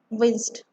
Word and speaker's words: winced: D like a T sound. Winced.